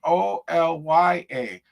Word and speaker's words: Olya: The first name is Oya, not spelled Olga, but it's pronounced Olya.